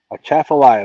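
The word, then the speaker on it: Atchafalaya: A chaffalia. That's where Creo fishes. And only reason I know how to pronounce it is because I heard him pronounce it numbers of times.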